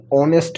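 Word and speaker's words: honest: Second এক্সাম্পলটাতে অ্যান অনেস্ট ম্যান, এখানে কিন্তু এইচের উচ্চারণ ও অর্থাৎ অনেস্ট, এখানে কিন্তু আমরা হনেস্ট বলছি না। যদি কেউ হনেস্ট বলে থাকে, তাহলে সেটা অবশ্যই ভুল, আমাদের বলতে হবে অনেস্ট।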